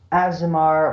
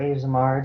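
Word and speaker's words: Aasimar: An Azamar or Azamar, depending on how you pronounce it, is a mortal being that has been touched by divinity.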